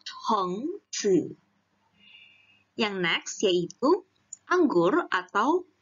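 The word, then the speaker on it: 橙子: Ingat ya, ada h-nya, jadi 橙子.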